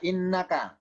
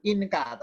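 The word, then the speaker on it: إِنَّكَ: Ini bacanya innaka. Bukan inka, tapi innaka, inna.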